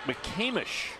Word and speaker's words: McCamish: Champion it's how you play and I actually mispronounced that it's the Hank mccamish Pavilion this is actually the mccamish basketball complex